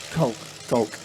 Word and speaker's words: Koch: Is it Koch or Coach? How do you say that? Coke.